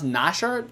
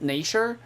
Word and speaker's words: Nashor: then very nice bear nation how do you pronounce nasher nature baron nashor okay very natural like it's gonna be coming